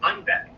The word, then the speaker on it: Einbeck: It's called Bock because originally it comes from a German town called Einbeck, which, when pronounced with a Bavarian accent, sounds like Ein Bock, meaning a goat.